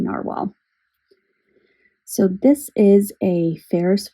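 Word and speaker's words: Nahvalur: He was the one that gave me the clarification on the pronunciation of Noveler really being narwhal.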